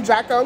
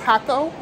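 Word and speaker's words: Jacó: huckle i keep saying draco because it's spelled j aco but i think it's pronounced hakko and then i got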